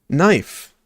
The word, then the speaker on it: knife: Knife. The K is silent.